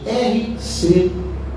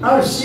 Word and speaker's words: R.C.: Como que se pronuncia as letras R-C em inglês?